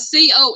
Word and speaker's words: confit: Yeah, it's spelled CONFIT, Jethro, but it's pronounced confit, CONFEE. The T is silent.